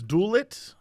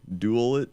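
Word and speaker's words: Dualit: his toaster brand is dulet dallet I don't know how to pronounce this duu a l i t oh I see dual it dual it yeah oh yeah that does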